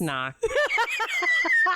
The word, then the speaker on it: knock: door is what happens knock so I know that word the K is silent sick bur that's how